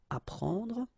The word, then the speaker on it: apprendre: The first one, AP, so app, you will get apprendre, apprendre, okay, you don't pronounce the double P, apprendre, so here is what it means.